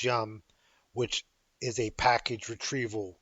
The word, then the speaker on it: Yum: of software called Yellow Dog Unmodified, which we pronounce Yum, which is a package retrieval system.